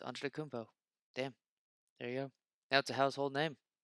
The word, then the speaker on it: Antetokounmpo: That it's like holy shit, word's actually not that hard to pronounce. Antetokounmpo.